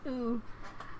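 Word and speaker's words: う: It's pronounced ooh.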